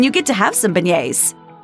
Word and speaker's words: beignets: Like in many words of French origin, some of the consonants, the G and the T specifically, are not pronounced. Just think of how you'll say yay when you get to have some beignets.